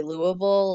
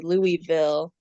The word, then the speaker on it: Louisville: local or not because locals will say Louisville like this really weird um you know not well pronounced or enunciated version of the name yeah I think that's you know French and I think it's supposed to be Louisville which is I think